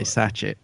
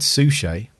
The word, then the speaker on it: Suchet: Don't say Satchet. So I'm going to take a stab at this one. David Suchet. Yeah. Cool. Right. David Suchet is going to appear